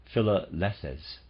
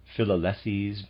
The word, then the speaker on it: Philalethes: Lyon, forming an occult Masonic lodge of the Philalethes, searchers after truth, out of a group of local Masons, which was called the Lodge of Triumphing Wisdom. Readers aside, Philalethes, possibly, I'm going to pronounce it that way, it's spelled P-H-I-L-A-L-E-T-H-E-S, Philalethes.